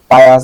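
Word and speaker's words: pious: Barbarian, পায়োয়াস, পায়াস বলি এটাকে আমরা, ধর্মপরায়ণ, ছোটবেলা থেকে একটু পায়াস করে আসছি, এখন দেখতে দেখতে পায়াস, ওই তো পায়াস, আমরা পায়াস করতাম, এখানে পায়াস।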